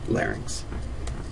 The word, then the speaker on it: larynx: faing and the same thing with larynx it's not a three- syllable word just two syllables larynx the teeth um the